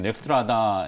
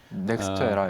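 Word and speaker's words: NextEra: 그래서 이제 미국 쪽에 이제 대안을 떠올리신 것 같긴 한데 최근에 그 분석 자료 보니까 미국의 유틸리티 기업인 넥스트라다 에너지, 넥스트에라 에너지. 넥스트라 네.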